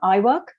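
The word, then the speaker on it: IWIRC: there coming up giving you some information on iwork it is pronounced i work it's a little play on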